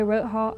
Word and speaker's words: Roth Hall: with the incident since i share the same name my name's roth it's not pronounced the same but whenever i walk by rote hall i get this anxious